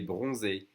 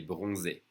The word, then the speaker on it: bronzé: Remember, when you see the accent on the E, it means you have to pronounce it E. So, il est bronzé.